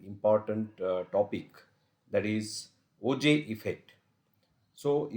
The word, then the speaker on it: Auger: uh topic that is OJ effect so even though uh according to the uh spelling here it appears auger but the pronunciation one should make as OJ so OJ effect so